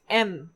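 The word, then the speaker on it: 円: The third one is the Japanese currency yen, but in Japanese it is pronounced as N without the year sound. So N.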